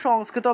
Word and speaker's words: সংস্কৃত: উচ্চারণ করতে চান তাহলে উচ্চারণটা হবে সংস্কৃতা সান উচ্চারণ হবে সংস্কৃতা সংস্কৃতা এভাবে সংস্কৃতা সংস্কৃতা দন্তস অনুসার শব্দের মাঝখানে আছে তাহলে ন এর মত উচ্চারণ হবে সংস্কৃ তারপরে তটাকে পূর্ণ উচ্চারণ করতে হবে কেন পূর্ণরূপে উচ্চারণ করতে হবে কারণ ত এর নিচে হসন্ত নাই তাহলে সংস্কৃত সংস্কৃত এভাবে উচ্চারণ করতে হবে আর যদি তয় নিচে হসন্ত থাকতো।